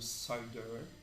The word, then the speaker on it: CIDR: Nós temos, por exemplo, o CIDR, que está aqui como é pronunciado, CIDR.